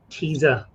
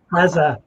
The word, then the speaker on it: Teza: So yes, Teza. Yeah, Teza.